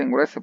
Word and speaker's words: engruese: Sí se dice engruese porque recae el acento en la O y se abre la vocal.